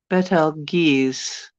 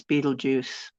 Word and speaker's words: Betelgeuse: Uh, Americans pronounce Beetlejuice like Beetlejuice. You pronounce it what? Betel Betelgeuse. Arabic for Orion's hand. Betelgeuse. Geese or Gez. Betelgeuse. Yeah, I was taught it's Beetlejuice. You're supposed to say it Beetlejuice, but so Betelgeuse.